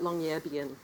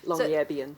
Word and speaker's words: Longyearbyen: But Longyearbyen is the way I understand it's pronounced. I think I may not have the accent in exactly the right place. - Longyearbyen - So the novel